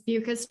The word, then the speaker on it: Beukes: It's Beukes, rhymes with mucus.